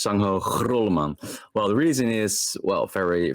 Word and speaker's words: Grolleman: My last name is by the way pronounced Grolleman. So it's really it's a Dutch grr. So it's Sangho Grolleman.